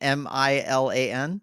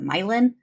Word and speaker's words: Milan: before too so uh foreign geographical sounding name is Milan Milan as in m-i-l-a-n m-i-l-a-n I think in Ohio or Illinois they pronounce it myelin but it's Milan Okay the reason I